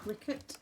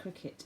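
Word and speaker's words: Cricut: it this big box is a cricket i think you call it i quite cry cup because i thought it was a dive but everyone seems to call it a cricket even though it's spelt with a u which i find confusing but this is the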